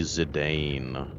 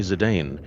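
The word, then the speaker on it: Zidane: So, he is going to be Zedane. And then everyone can get mad at me that I'm pronouncing their favorite Final Fantasy character's names wrong.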